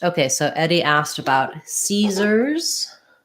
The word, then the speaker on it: Caesars: So either Caesars. So this S is a Z sound. The A is the AR letters say the sound, which I will write as ER, and then a Z sound at the end.